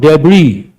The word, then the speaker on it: debris: What is a synonym to the word debris? Underline the letter S and remember silent.